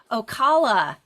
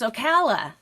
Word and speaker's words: Ocala: you're going to correct me I've been saying Ocala it's Ocala I mispronounced it I don't think you have to